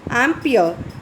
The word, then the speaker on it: ampere: current fd measure convey ampere how do you pronounce it ampere and the how do you what is the